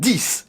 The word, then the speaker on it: X: ainsi que l'iphone 10 avec ax prononcé 10 et non pas x n'en déplaise aux adorateurs